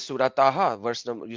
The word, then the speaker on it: Taha: so how does th toa has to be pronounced with the elongated alif on to and elongated alif on ha that is not there.